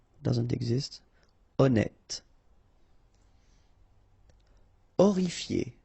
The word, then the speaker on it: horrifié: Horrifié, same thing here, you don't pronounce the H, horrifié.